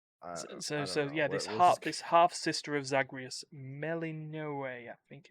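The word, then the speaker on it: Melinoë: Little couple extra syllables in there. Melanoi. Melanoi?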